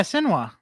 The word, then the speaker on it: Senua: Yeah, Senua.